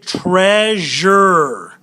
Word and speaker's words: treasure: All right, let's look at treasure. Treasure. So we got the jur sound on treasure.